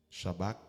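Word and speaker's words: Shabach: Shabak s'écrit S-H-A-B-A-C-H.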